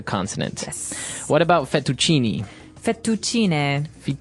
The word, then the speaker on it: fettuccine: Fettuccine. Oh, it's fettuccine. Fettuccine. In American, we say fettuccine.